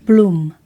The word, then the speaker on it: Blum: I've developed a simple method called Bloom, though technically it's spelled Bloom.